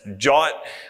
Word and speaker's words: JWT: The solution, naturally, is OIDC and JWT, which is pronounced Jot, which makes my heart happy because I'm from Philadelphia and we say John, and it's very close.